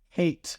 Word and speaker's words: Hayt: Hate. I didn't hear you pronounce the T. Like, hate. His name is Hate.